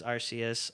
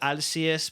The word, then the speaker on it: Arceus: to play pokemon legends arceus arceus however the hell you guys want to pronounce it i'm going to pronounce it alcias because in japan i i watch the anime still they say alcias yes okay yeah i